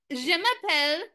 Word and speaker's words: je m'appelle: So look at somebody and say, bonjour, je m'appelle, and your name.